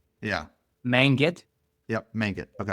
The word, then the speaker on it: Mangit: How do you pronounce it again? Sorry. Mangit. Yeah. Mangit? Yeah, Mangit.